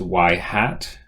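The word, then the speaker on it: ŷ: this is the equation um now this is pronounced y hat all right and and it's to be distinguished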